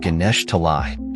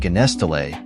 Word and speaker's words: Ganesh Talai: every night it is a suburb called Ganesh talai he was mispronouncing it as a child calling it ganes tay but it confirms that